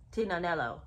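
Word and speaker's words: Tignanello: And it's named after this Italian wine, Tinanello. Now, I don't even know if that's the right pronunciation, but I do know the G is silent in that word.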